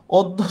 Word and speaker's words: অদ্য: অদ্য শব্দের উচ্চারণটা হবে হচ্ছে স্যার কি, উচ্চারণটা হবে ও দ হসন্ত দয় ওকার, ঠিক আছে।